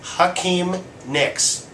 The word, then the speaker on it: Hakeem Nicks: That's Hakeem Nicks. I didn't mispronounce that.